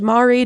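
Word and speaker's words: Māori: Do you speak I believe it's pronounced Mari. Do you celebrate the culture? Have you participated in a haka at all? I am part Mori.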